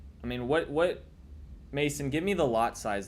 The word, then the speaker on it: Masan: Okay, so just say Mason. Okay, well, why don't you just say that, Mason? Oh, I guess that is Mason. M-A-S-A-N, Mason, with an A.